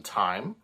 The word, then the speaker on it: thyme: in the title um it's called wild mountain time uh not wild mountain thyme as it's spelled but time is in the uh as in the uh the actual the herb uh so it's a